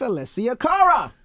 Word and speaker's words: Alessia Cara: We have a special guest in the building, Miss Alessia Cara.